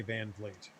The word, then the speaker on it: Van Vliet: So, it makes it easier than trying to pronounce Van Vliet. Although once you've heard it, I guess you can say Van Vliet.